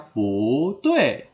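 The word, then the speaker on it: 不对: Jadi bacanya pu tue. Tidak dibaca pu ya, tidak dibaca pu.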